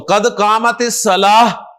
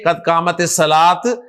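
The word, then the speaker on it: قد قامت الصلاة: तो कद कामत सलाह, हा के साथ प्रोनाउंस करें, कद कामत सलाह, ना के कद कामत सलात, कद कामत सलात।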